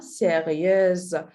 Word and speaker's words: sérieuse: For if we pronounce this one sérieux, but this one sérieuse.